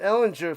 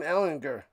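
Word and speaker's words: Ehlinger: They I guess uh he let everybody know it's a soft G cuz I've been calling him and the people been calling him Ellinger for years, but it's Sam Ellinger.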